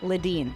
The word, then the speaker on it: Ledeen: How do you say your last name? Leedine. Leidden. I I I didn't want to mispronounce that.